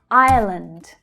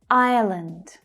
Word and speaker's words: Ireland: Ireland, Ireland. So this is a little tricky. It's pronounced slightly different to island. Ireland. There's an extra schwa sound in there.